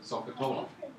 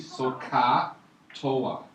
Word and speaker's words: SOHCAHTOA: Some Indian mathematician out there, right, from this tribe, well, it's like SOHCAHTOA. So how you pronounce it? So, S-O-H, so, ka, C-H, SOHCAHTOA.